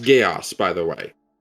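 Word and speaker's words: Geas: g e a Gees yes G yes it's pronounced gaos by the way it's pronounced gaos dude that's not what you're saying you're you're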